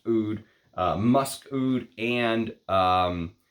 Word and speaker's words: oud: think this whole line the oud the AUD as he writes it but it's supposed to be pronounced oud uh musk oud and